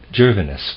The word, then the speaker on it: Gervinus: was a man who wrote a literary history gervinus was his name i'm going to spell it that way g e r v as